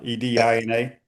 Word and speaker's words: Edina: How do you pronounce e d i n a?